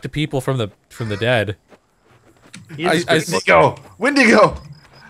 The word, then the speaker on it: Wendigo: Wendigo! It's pronounced Weetigoo. Actually, that's what the Crees call it.